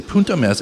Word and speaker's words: Punt e Mes: And the name Punt e Mes is pronounced as I say Punt e Mes and it translates to a point and a half in the Piedmontese dialect.